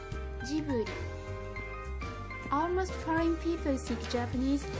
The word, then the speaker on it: Ghibli: a very hard G, Ghibli, Ghibli. The Japanese pronunciation of the studio's name is with a soft G, Ghibli, Ghibli.